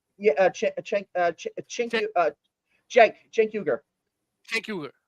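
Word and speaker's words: Cenk Uygur: uh yeah uh CH uh CH uh Jen Jen yuger Jen yuger right thank you thank you uh sorry for the pronunciation guys I don't watch the young tur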